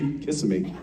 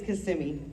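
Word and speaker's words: Kissimmee: you guys miss that how would you not want it to be Kissam me I guess it depends on who you're talking about a lot a lot of people still say it like that though but yeah technically it's cimi yeah I like it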